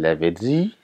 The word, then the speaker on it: Lavezzi: Je vous rappelle, c'est les îles Lavezzi. Hein, je le prononce comme ça pour ceux qui ne sont pas habitués, que c'est en Corse.